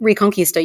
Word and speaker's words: Reconquista: Reconquista, you got it. Reconquista, Christians drove Muslims out of much of Europe.